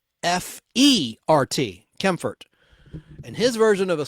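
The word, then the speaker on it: Kaempfert: r t Bert k a m p ft kempfort and his version of a swing in Safari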